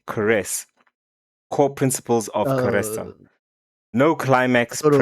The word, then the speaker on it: karezza: KAREZZA, pronounced KAREZZA, is a gentle, intimacy-focused sexual practice where partners engage in slow, affectionate lovemaking without the goal of reaching orgasm or ejaculation.